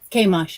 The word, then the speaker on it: Chemosh: Chemosh, yeah.